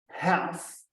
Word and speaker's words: half: Então, half significa metade. Não é? Aquele L é mudo, half.